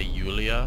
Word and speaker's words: Julia: Because I know someone from the Ukraine whose name is it's spelt Julia, but you say Yulia, so I immediately thought it was that when I saw the accent over the U.